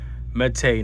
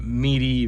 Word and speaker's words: Mete: mate sft and yes is mate that's how they pronounce it mate not meaty not meat no mate now if you're